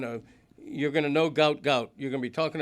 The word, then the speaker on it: Gout Gout: The biggest name in track and field is going to be named gout gout.